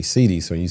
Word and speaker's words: Cede: A lot of people pronounce it as Cede. Yeah, it is actually Cede.